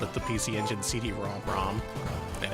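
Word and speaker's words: PC Engine CD-ROM²: wrong the entire time the actual way you say it is the PC engine CD ROM ROM and I'm not making that up yeah CD ROM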